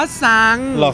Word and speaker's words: ตรัง: ที่ ตรัง นะ ครับ คน ตรัง เนี่ย จะ ออก เสียง ว่า ซัง ไม่ เคย ได้ ยิน เลย